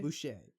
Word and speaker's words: Boucher: Who? Bobby Bobby Boucher? Boucher. Yeah, it's French.